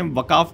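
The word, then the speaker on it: वक़्फ़: पहले इसमें वकाफ कहता था। एक बच्चे ने मेरे को बताया कि सर वकाफ नहीं वक होता है।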